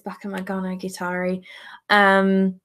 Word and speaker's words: Bakemonogatari: Sure, it's Bakemonogatari.